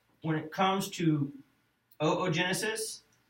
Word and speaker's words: oogenesis: And pronounce again, oogenesis? Oogenesis, yeah. Not oogenesis? It's not oogenesis, right? The good thing is, the names of the cells carry over.